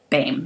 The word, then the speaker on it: Baim: Baim is how you say her last name.